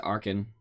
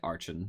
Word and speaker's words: Archon: what we rank at my goal is to get to Arkin which is how it's supposed to be pronounced that some people say Archon I don't like that Ark and that's my